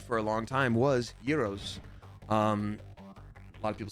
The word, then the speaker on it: gyros: my favorite food for a long time was Euros um a lot of people say Gyros it's pronounced Yos but like who cares um because my where